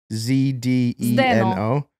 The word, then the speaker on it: Zdeno: His name is spelled Z-D-E-N-O.